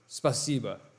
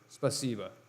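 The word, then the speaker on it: Спасибо: Spasiba. Spasiba.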